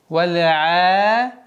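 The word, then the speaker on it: والعاديات: Обращайте внимание, чтобы гортанный звук «айн» полноценно было произношено. Произношение «айна» очень важно, потому что при отсутствии правильного произношения, естественно, как и любое кораническое слово, будет сильно изменен смысл.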